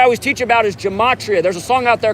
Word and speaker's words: gematria: effect sports on youtube gematria spelled like gem gem at 80 and then ria kind of like the sporting goods store gematria thank you appreciate you